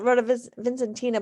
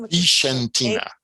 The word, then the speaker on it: Vicentina: I called it Rota Vincentina, but apparently that's the wrong pronunciation. Vicentina.